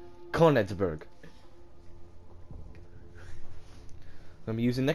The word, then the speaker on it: Königsberg: Alright, we're gonna be using Königsberg. Yes, that's how it's said, motherfucker. Königsberg.